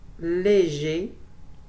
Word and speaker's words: léger: Attention, léger, on ne prononce pas le R et on écrit E, pas d'accent.